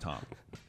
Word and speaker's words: Thom: um it is not Thum it's Tom even though it's t h o m it's it's pronounced Tom um yeah uh did